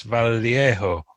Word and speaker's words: Vallejo: With Julie Bell and Boris Vallejo, I think is how you pronounce his surname.